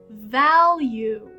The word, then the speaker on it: value: The second word is value.